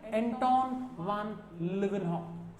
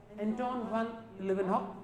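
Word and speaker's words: Antonie van Leeuwenhoek: तो पहली बार living cells को देखने का, डिस्कवर करने का जो श्रेय जाता है वो जाता है एंटोन वान लिवेनहॉक। स्पेलिंग पे गौर करना, एंटोन ए कैपिटल वी स्मॉल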